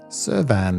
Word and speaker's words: Søværn: Søværn is a Danish word, and we use the same term as Sweden, just spelt and pronounced slightly differently.